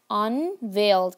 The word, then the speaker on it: unveiled: Unveiled. Can you see here? E and I. We pronounce it as a long A.